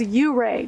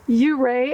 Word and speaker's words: Ouray: Now, I've been told by the locals it is pronounced Ouray, and a lot of people call it Ouray, so I'm not quite sure, but I'm going to stick with Ouray.